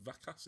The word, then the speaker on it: Vacas: Also, how do you pronounce his name? Vacas? Vacas is V-A-Cas.